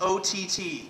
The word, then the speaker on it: Ott: I just reiterate, yes, it's O-T-T. 3 letters, rhymes with Scott, or pot, snot, twat, kumquat, paraquat, 16 shells from a 30-06, Ott man.